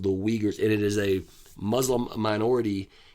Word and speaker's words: Uyghurs: with the uh we uyghurs i hope i'm pronouncing that right it's hyphenetically spelled it would be w-e-e and then i spelled it g-u-r-h that's not how it's